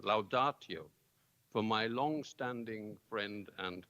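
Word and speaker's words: laudatio: to offer a loudartio I had to ask somebody whether I should pronounce it in medieval latinus laudazio but I okay it's proper Latin loudartio for my long-standing friend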